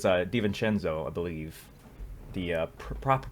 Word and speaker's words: DiVincenzo: and somebody spelled it out in YouTube comments phonetically. So it's DiVincenzo, I believe.